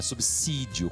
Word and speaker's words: subsídio: a pronúncia subir só subsídio qualquer qualquer palavra que tem a letra s após consoante essa letra s tem som de s nada de ver quem